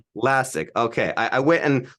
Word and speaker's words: Lascsak: last name is uh like classic without the C so it's lassic lassic okay I I went